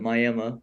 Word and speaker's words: Miami: small town uh it's it's spelled Miami but people call it Miami because it's so small in Oklahoma right right I went there for two years uh my freshman year I wrestled 125.